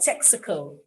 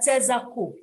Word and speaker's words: Texaco: also a bus stop but people don't know it as texaco they know it as tezaku i i wasn't so